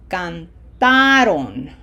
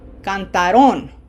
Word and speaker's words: cantaron: And this is going to sound cantaron cantaron as opposed to cantaron.